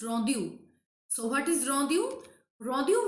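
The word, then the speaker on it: rondeau: type that is rondu rondu actually this is French uh pronounce rondu so what is rondu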